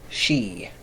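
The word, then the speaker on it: sidhe: or how about this s-i-d-h-e-e which is pronounced she right so that refers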